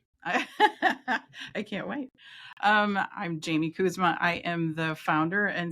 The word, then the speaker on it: Koesema: So I was calling her Koesema, but it's Jamie Koesema at R4 Retreat Center.